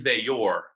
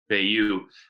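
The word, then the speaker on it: Veilleux: One's a January enrollee, Christian Veilleur. That, according to Dwight Galt, that's how you pronounce his name. We've been pronouncing it Veilleur.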